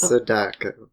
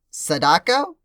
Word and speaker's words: Sadako: It's That's Sadako.